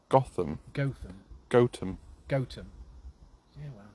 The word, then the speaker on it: Gotham: in Batman after this place apparently it's not pronounced Gotham Gotham goam goam yeah it's Gotham we all know we